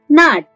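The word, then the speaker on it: gnat: डंस डंस यानी कि नाट नाट डंस को इंग्लिश में कहा जाता है नाट यहां प जी जो है वो साइलेंट है तो ना नहीं कहते है डंस को कहते है नाट इन्ह कहा जाता है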